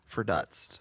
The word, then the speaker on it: verdutzt: Let me double check just so I make sure I pronounce this right. All right. Verdutzt. Verdutzt.